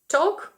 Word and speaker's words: talk: «To talk», «talk» – розмовляти, буквосполучення A-L-K читається як ok.